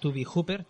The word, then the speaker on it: Tobe: Pues conocemos a Toby Hooper. Es un director que se escribe Tobe, y teníamos un dilema de si se decía Tobe o Toby. Entonces, es Toby.